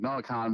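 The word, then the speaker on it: Noah Kahan: came for Khan sorry I always get the name wrong Noah Khan recently like was a big moment in my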